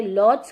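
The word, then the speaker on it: Łódź: वैसे आप इसे अगर इंग्लिश में कहीं सर्च करते हो या प्रोनाउंस करते हो तो आप इसे लॉड्स कहते हो, बट यहाँ पर यहाँ की पोलिश लैंग्वेज में इसे ऊज कहा जाता है।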